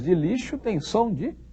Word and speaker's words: lixo: Lixo se escreve com X. O som do X de lixo é som de quê? Som de CH? Não. O X de lixo tem som de X mesmo.